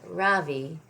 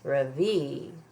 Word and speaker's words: Ravi: My name is not Ravi. It's pronounced Ravi.